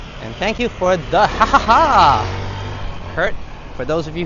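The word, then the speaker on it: ห้า: And thank you for the haha Kurt. For those of you who don't know yet, the number five is pronounced ha in Thailand.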